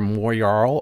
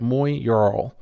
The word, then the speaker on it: Moyarl: for something for your Moyarl or Moyarl. I'm not sure if I'm saying that right. Moyarl. I think Moyarl. If I remember right, is the correct pronunciation, or close to it anyway.